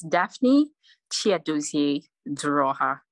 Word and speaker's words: Daphne Chiodozie Duruoha: so people hear it correctly in case i butchered it yeah it's daphne chia doozy draw here now you're part of this series you were